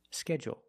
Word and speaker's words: schedule: is longer schedule and it has an extra sound it's not like pool and cool it's schedule o there's an extra vowel there or you can make it short and say schedule schedule also we notice that du making the J sound like in juice and jump schedule or schedule example I